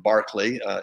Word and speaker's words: Berkeley: school at yale and my habit has been to say berkeley berkeley berkeley and so while the british would have pronounced uh george berkeley as george barkley in his day and certainly uh thereafter berkeley is what i'm going to default to for that reason